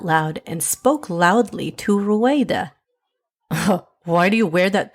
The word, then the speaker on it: Ruayda: How do you pronounce it, sweetie? Ruayda.